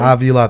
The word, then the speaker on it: Avila: Avila, 3 syllables, girl.